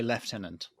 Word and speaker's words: lieutenant: How do you pronounce the word lieutenant? I would say lieutenant. Mm-hmm. What? Where's No. the F in the? Where's the F come from? Well, that's for fun. That's an extra bonus F that British people are allowed to add into any word whenever we feel like it.